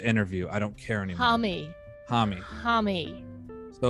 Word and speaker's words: Homme: Oh my God, it's HOMME. It's HOMME. HOMME, that's it. Yep. Josh HOMME. Josh HOMME.